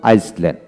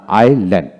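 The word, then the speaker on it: island: আমরা আগে পড়তাম আইসল্যান্ড, না আইল্যান্ড, আই এস এল এন ডি। এখানে আইএসএতে আইল্যান্ড উচ্চারিত হবে।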